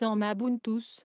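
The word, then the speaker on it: Emmabuntüs: Emabuntu est un mot valide composé de Emmaü et Ubuntu et se prononce Emabuntus, comme Xubuntu se prononce Zubuntu.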